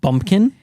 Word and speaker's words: Bumpkin: their names yes so one of them is called Bumpkin but also cleverly rhymes with his horse's name Lumpkin but I just see